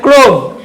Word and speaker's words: Chrome: না, এই না, এটা ক্রোম, CHROME, ক্রোম। কেমিস্ট্রিরা কখনো কেমিস্ট্রি বলেন না, সি এর সাথে এইচ আসলে সেটা কে এর মতো উচ্চারণ হয়।